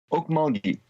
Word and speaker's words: Okmulgee: How did you end up in, how's the town name pronounced? Okmulgee.